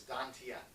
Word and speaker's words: Dantian: It's spelled Tantien. But it's said, when they pronounce it, it's Dantian.